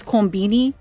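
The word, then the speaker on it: コンビニ: I read on Reddit that a lot of convenience store, and I'm gonna refer to a convenience store, by the way, as konbini, because that's just how they say it over there.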